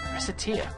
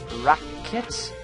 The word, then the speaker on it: Recettear: Oh, Lord. Recettear. Mispronounce it even slightly and... Recettear? Racket? This job is going to be more absurdly difficult than I originally suspected, I fear.